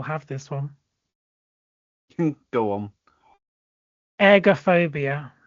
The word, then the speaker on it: ergophobia: Ergophobia, and it's not eggs. Ergophobia is if I'm pronouncing this air, so ergophobia. Fear of breathing. Nope. Fear of that wasn't a hint. That wasn't a hint. I'm just saying how I was pronouncing it, not egg.